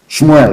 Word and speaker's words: Shmuel: let me tell you what samuel said shmuel of course correct pronunciation as your sword